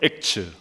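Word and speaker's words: Acts: 영어식 표기가 의미심장합니다 사도행전은 영어로 츠라 합니다 액츠 같이 한번 읽어볼까요 액츠 이게 사도행전이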